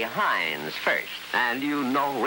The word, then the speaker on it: Heinz: cherry sauce Worcestershire sauce - but you love Hein solve it we very high you pronounce it say Heinz first and you know it's good because it